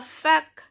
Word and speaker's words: fac: So la fac. So here C is pronounced, means college.